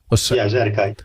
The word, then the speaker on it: Zadokite: Do you pronounce it Zadokite? Zadokite. Zadokite, okay. Mm-hmm.